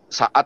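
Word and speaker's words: Shaad: Kalau Anda nggak percaya, buka QS saat ya. Bacanya apa sih, Pak Kace? S-H-A-A-D. Saat ya. QS saat. Hah? Saat ya? Saat 85. QS saat 85.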